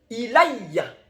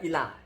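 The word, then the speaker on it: إِلَيَّ: Wa rafi'uka ilayya, bukan ilah. Ya sambil ngajar baca lah, siapa tahu dia nanti bisa suka baca Al-Quran ya. Idz qala Allahu ya Isa inni mutawaffika wa rafi'uka ilayya wa mutahhiruka minal ladzina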